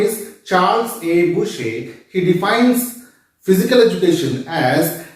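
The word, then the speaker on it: Bucher: it is pronounced as Boucher because he was from France and in French language what we write is not what we pronounce so his name is Charles A bushek he defines physical education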